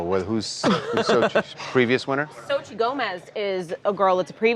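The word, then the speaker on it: Xochitl: How do you pronounce Okay. that? Sochi Gomez.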